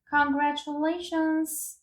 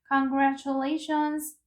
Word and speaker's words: congratulations: congratulations 해가지고 여기에 s 발음까지 정확하게 발음해 주셔야 돼요. 그냥 congratulation이 아니고 congratulations 해가지고 추가해라는 말이죠.